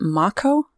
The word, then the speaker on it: Mako: If you listen to the Japanese dialect and how they pronounce the A's, it is true to form. Like, the A's are pronounced as R, so I guess Marco would kind of make sense.